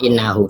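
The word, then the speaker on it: إنه: Ini tuh bacanya innahu, Bang.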